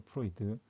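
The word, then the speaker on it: froid: 프로이드. 오와는 우와 발음이 사실 나긴 하는데 앙트로메 프로이드.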